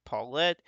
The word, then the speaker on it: Paulette: We also got Paulette, which in the last video I did not pronounce that correctly, so that's Paulette.